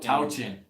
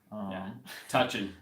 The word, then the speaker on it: Tauchen: It's like ow. Tauchen. Ken. Tauchen's good too. Tauchen. He likes that one. Touchin.